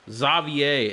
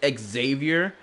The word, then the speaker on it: Xavier: Xavier is how they pronounce his name. Xavier. I still find that weird that that's how they pronounce his name, despite the fact it clearly says Xavier. Like, come on. In English, we would pronounce his name as Xavier. Like, even without the E.